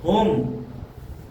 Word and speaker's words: whom: अगर किसी स्पेलिंग की शुरुआत WHO से होती है तो वहां पर सामान्यतः W साइलेंट होता है, समझ में आया। जैसे कि whom, when, what, वहां पर W जो रहेगा साइलेंट होता है।